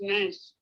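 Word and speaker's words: נס: When you say that adversity leads to something greater in the end, as I taught before, the Hebrew word for miracle, pronounced nes, is the same word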